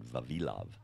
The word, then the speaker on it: Vavilov: My Russian friends pronounce it Vavilov.